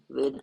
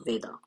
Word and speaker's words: वेद: Last chapters हैं ऑफ वेदा। अच्छा ये वेदा वगैरह इंग्लिश वाला प्रोनाउंसिएशन है इसलिए वो बीच बीच में आ जा रहा है। वेदा कहना गलत है मेरे हिसाब से, वेद ही कहना चाहिए।